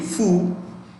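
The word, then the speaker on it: Phú: i know i was surprised go in p-h-u foo tong t-r-o-n-g i spell again n-g-u-y-e-n okay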